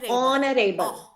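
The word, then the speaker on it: honorable: नॉट एच एच नाउ ऑनरेबल of sound आ रही है एच is silent ऑनरेबल नहीं है इट्स ऑनरेबल sound go for sound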